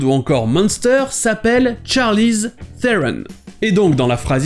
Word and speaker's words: Theron: de famille de l'actrice déjà certains le prononce theron avec la première syllabe accentuée et d'autre le prononce ce tron avec la deuxième syllabe accentuées mais charlize theron a grandi en afrique du sud et là bas ça se prononce plus comme fron un trône avec en plus l'accent du pays mais la plupart du